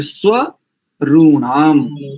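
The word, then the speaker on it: स्वरूणाम्: में देखिए शन्नः स्व, इसको अलग कर दीजिए स्व को। जैसे आप प्रतिदिन संध्या करते हैं ना, तो संध्या में गायत्री मंत्र में भी आता है, प्राणायाम मंत्रों में भी स्व आता है, तो स्व को अलग कर दीजिए, स्व ऋणाम, स्व ऋणाम ऐसा।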